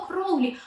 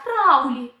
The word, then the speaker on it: Crowley: Кстати, правильное имя мага произносится через О, Кроули, а Оззи поет через А, Краули.